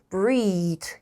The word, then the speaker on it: breath: 뭐냐 하면 is to breathe in deeply. 이때 deeply. 이때 여기 보시면 끝에 이가 붙어 있는 게 숨쉬다라는 동사고요. 요 이가 없으면 발음이 breath, 숨이라는 명사. 달라요.